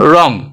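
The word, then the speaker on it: wrong: व नहीं करते हैं ये हो गया साइलेंट रोंग व क्या है साइलेंट है आर यहां पे कंसोनेंट है दोनों कंसोनेंट है यहां पर व साइलेंट हो गया अब बात करते हैं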